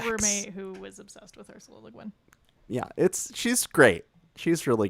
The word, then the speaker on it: Ursula Le Guin: reading The Left Hand of Darkness by Ursula Le Guin, which I Ooh. probably butchered her name just now, but she did the Earth Chronicles of Earthsea.